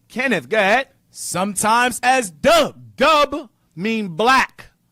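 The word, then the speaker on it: Dubh: Dub also is pronounced with a V RF. Duff.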